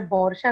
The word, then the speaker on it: वर्षा: नाम मेरा वर्षा है, लेकिन वहाँ क्योंकि व नहीं होता है, उच्चारण के अनुसार बौर्षा कहा जाता है।